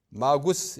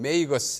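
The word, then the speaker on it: magus: 라틴 말로는 마구스라고 합니다. 마구스, 이걸 영어로 읽으면 메이거스 이렇게 읽고, 마구스의 복수가 마기입니다.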